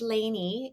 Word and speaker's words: Lainie: mentoring for teens and my first name is Laney it's spelled l-a-i-n-i-e and I always put